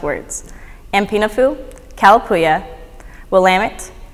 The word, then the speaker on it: Willamette: Confederated Tribes of select Indians there's five commonly mispronounced words MP no Fuu colloquia Willamette Grande Ronde as well as Siletz